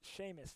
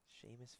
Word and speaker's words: Seamus: That's Seamus Fallon. Oh, Seamus. Wow. I would have never guessed that. Yeah, Seamus is one of those names that doesn't look or it doesn't sound how it looks. Seamus Fallon.